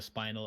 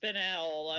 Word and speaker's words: Spinel: You have the spinal up here around the bend. Yeah. Apparently it's pronounced spinel, as I have just wouldn't learned.